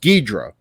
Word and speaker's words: Ghidorah: English dubbing of it, Ghidorah's pronounced Ghidra, and Ghidra actually was like the way I said it for years and years and years. I never went with the traditional, pronunciation of it.